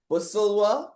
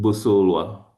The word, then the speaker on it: Busulwa: Busulwa, is that it? That works, yeah. No, no, don't tell me that works. How is the That last works. name pronounced It's again? Busulwa.